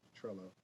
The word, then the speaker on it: Trello: The pronunciation Trello, not Trello, it's Trello.